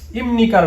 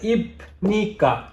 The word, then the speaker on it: 입니까: ইমনিকা, ইমনিকা, দেখুন এখানে ইপনিকা, ইপনিকা এটা কিন্তু উচ্চারণ হবে না। পাশ্চিম বিউপির পরে নিউন আসলে, অর্থাৎ বিউপ পাশ্চিমের পরে নিউন আসলে এখানে আপনার এই বিউপটা মিউমের মতো উচ্চারণ হবে, ওই বিউপটা মিউম উচ্চারণ হবে।